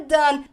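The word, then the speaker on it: done: do é dan dan a pronúncia é Dane lembra qual é essa música que você nunca mais vai esquecer ele rima com Run Run rima com Dani Run don't Way turn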